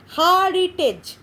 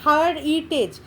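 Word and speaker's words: heritage: হেরিটেজ, হেরিটেজ হচ্ছে হারিটেজ, এখানে 3টে সিলেবিক ডিভিশনটা এইভাবে করেছে, হারিটেজ, হেরিটেজ। আমরা যখন উচ্চারণ করি হেরিটেজ, হেরিটেজ, হেরিটেজ, এটা হার উচ্চারণ করছি না, হেরিটেজ একসঙ্গে উচ্চারণ করে হেরিটেজ।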